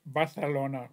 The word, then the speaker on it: Barcelona: barcelon this is Barcelona it's pronounced Barcelona like a th okay Barcelona I've been